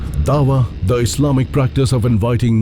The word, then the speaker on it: dawa: Dawa is the way it's pronounced and what it means is to plead or to call non-Muslims to Islam.